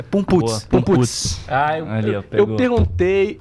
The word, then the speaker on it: Pumputis: Pessoal, hoje estamos com Pumputis. É assim? É Pumputz.